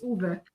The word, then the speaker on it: Uwe: recognize that name Gary it's Uber not yui I don't don't care